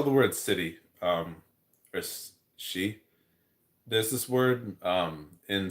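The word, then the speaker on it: sidhe: was either city or the word she which in GI or Celtic means um it's spelled the same s i d except no it's not spelled the same. s i d h e which means fairy I think in um gaic or Celtic.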